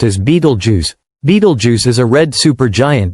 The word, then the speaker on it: Betelgeuse: Betelgeuse. A giant nearing the end. One of the most captivating and mysterious celestial events of our time revolves around a single, massive, dying star, Betelgeuse.